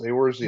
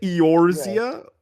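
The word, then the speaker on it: Eorzea: exactly what it says aoria no what that's how they pronounce it aoria what shout out Fus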